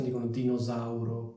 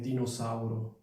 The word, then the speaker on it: dinosauro: Some people say /dinosauro/ with an unvoiced S, while other people say /dinozauro/ with a voiced S. Since it is a compound word, it should be pronounced as /dinosauro/.